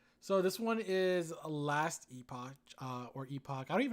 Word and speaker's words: Epoch: Uh, If it's EPOCH, it's Epic. then it's Last Epic, I guess, because that's exactly how it's spelled, and I had no idea, and I should have probably put it in Google before I looked like a I jackass on stream. I don't know why it's pronounced that, but I am 99% sure that you pronounce it Epic.